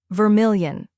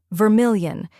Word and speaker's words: vermilion: in million now let's put it all together Vermilion try repeating after me Vermilion now a little faster Vermilion and at full